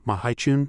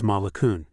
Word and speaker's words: Malakun: out a mocking laugh, intentionally mispronouncing the name. Mahun, so you're that old demon. Beside him, the shadowless rat turned his head and clicked his tongue to correct his partner. His name is Malakun.